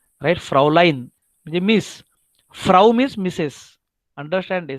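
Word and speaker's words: Fräulein: बोलते हैं Frau L ई आई N line spelling थोड़ा सा इधर ऐसा देखो फ्राउ लाइन फ्राउ लाइन फ लाइन का मतलब है मिस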